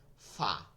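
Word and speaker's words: ف: এখন যেটা করব সেটা হচ্ছে এই নিচের ঠোঁটের পেট, নিচের ঠোঁটের পেট, নিচের ঠোঁটের পেট, আর সামনের উপরে 2 দাঁত, সামনের উপরের 2 দাঁতের আগার সঙ্গে লাগাইয়া, 2 দাঁতের গোড়ায় তো কোনোভাবেই লাগান যায় না, আগাই। এরপর কি হয়, ফা, ফয়াকারে। আমরা ফ বলবো না, ফ কিন্তু আমরা অনেকে ঠোঁট দিয়া বলি, বলি ফুপু যান, ফুপু,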